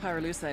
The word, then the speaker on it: pyrolusite: You know what pyrolusite is, right? Yeah, neither did I. Pyrolusite, key syllable pyro, by the way, is the shit they mine in Villa Verde province to turn coca leaves into high-quality cocaine.